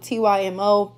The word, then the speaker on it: TYMO: I call it TYMO, but that is how you pronounce it.